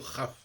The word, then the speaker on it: Kaf: Alors, effectivement, ça s'entend de la même façon, parce que le Kaf en hébreu, c'est une lettre double, donc elle se prononce tantôt Kaf, tantôt Chaf.